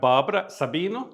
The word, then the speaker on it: Barbara Sabino: brnik secondly we have Barbara Sabino did I pronounce that correctly yes that's well done me uh from local you're